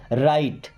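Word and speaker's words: right: राइट। इस राइट word में जी और एच साइलेंट होते हैं।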